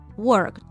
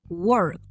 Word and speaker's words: worked: a pronunciar la letra D, pero no la pronuncio, sino que ahí termino la palabra y corto el aire. Work, worked. Work, worked.